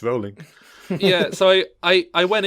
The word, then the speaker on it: Rowling: for long enough like no it's rolling like bowling like rolling no I didn't it's not JK it's Juke maybe that's where comes like just kidding it's rolling yeah sorry I I